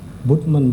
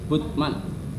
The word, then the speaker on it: Bultmann: Jadi Bulman ya bacanya ya. Butman, Prof. Butman. Butman. Butman. Karena Jerman biasanya bacanya anu eh baikman Butman ya.